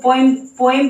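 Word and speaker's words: poem: आप कहीं पर तो पोएम पढ़ रहे हो, कहीं पर पोम बोल रहे हो, ये क्या है? ये सही क्या है? इसका प्रोनाउंसिएशन पोम है। क्या है? पोम।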